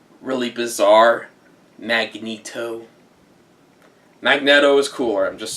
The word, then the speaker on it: Magneto: And by the way, I do pronounce his name as Magneto, not Magneto, because honestly, Magneto sounds really lame.